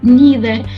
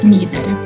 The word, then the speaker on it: neither: Either and neither are British pronunciation. And we can see neither, either. Neither, either, American pronunciation. Either, neither, British pronunciation. So you can say this or that. Both forms are standard and correct.